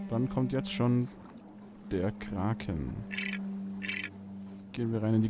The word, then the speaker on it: Kraken: Also ich habe gehört, dass man Krake sagt. Gewinnt ohne M. Nein, nein, nein, nein. Kraken wird das Ganze original skandinavisch ausgesprochen. Da ist Kraken viel näher dran.